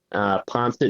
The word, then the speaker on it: Poinsett: Poncet is spelled POINSETT @ .sd, like South Dakota, .us.